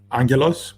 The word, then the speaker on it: Angelos: of all uh so it's Angeles without like a hard G ah angle ass right that's great and